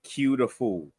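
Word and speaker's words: Q Da Fool: His rap name is actually called Q the Fool.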